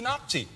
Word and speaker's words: Nati: Also, die Schweizer Fußballnationalmannschaft heißt abgekürzt die Nazi. Oder? Das ist richtig. Wobei, es wird nicht mit Z geschrieben, es wird Z ausgesprochen.